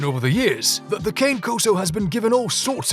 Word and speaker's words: Cane Corso: so many people have struggled with the proper pronunciation over the years that the kane koso has been given all sorts of nicknames and one of them is king corso which is totally understandable our only question is